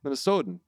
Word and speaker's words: Minnesotan: pronounce the T? Do you Yeah. like enunciate the T's? So No, it's softer. it's soft. Soft. It's soft T.